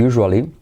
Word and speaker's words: usual: Por ejemplo, I usually. Fíjate la pronunciación de usual sería como Joshua, la merienda, usual.